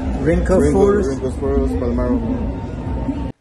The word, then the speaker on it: Rhynchophorus palmarum: Rhynchophorus palmarum.